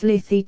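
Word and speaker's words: slithy: that has often been asked me how to pronounce slyy toes the ey in slyy is long as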